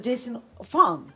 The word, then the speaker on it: Jason Fung: can't check him online his name is dr jason farm jason as in jason the way you spell it in english then the fung is f-u-n-g and he is um